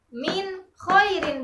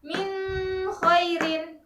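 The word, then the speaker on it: مِنْ خَيْرٍ: Minho Irin Minho Irin minhairin bukan Meme Hairin kita bacanya jelas minhairin Hai yang terakhir adalah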